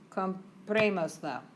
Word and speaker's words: comprémoslo: Tilde, right? Accent mark. Where does it go? Yeah, comprémoslo. Comprémoslo. It's too long to accentuate without the accent.